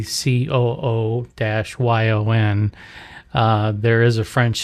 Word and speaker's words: couillon: I called you guys couillons. Now, couillon, it's spelled a lot of different ways, but for the sake of keeping things simple, you just say COO-YON.